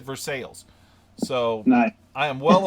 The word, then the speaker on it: Versailles: Kentucky is like a sister state with France, and we have a Versailles county, and they pronounce it Versailles.